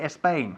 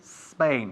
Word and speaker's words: Spain: s sound the S Plus consonant is never pronounced s okay we don't say a Spain we say Spain we don't say a slightly we say slightly